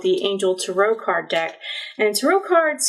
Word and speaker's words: tarot: As long as it doesn't rhyme with carrot, we're fine. That extra T on Tarot is silent. Tarot, whatever, as long as it's not tarot, we're good.